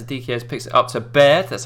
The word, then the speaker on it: Baird: Adikiez drops it off to Beard. Beard? I'm saying that right, aren't I? Chris Baird.